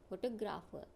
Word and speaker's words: photographer: Now see the second word, photographer. Here the first sound is weak and the stress is on the second syllable. The other two are also weak.